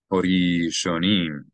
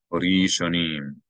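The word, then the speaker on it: הראשנים: The aleph is silent because there's no vowel above or below it. So it's not pronounced as a glottal stop. It's as if it's not there. Hori shonim.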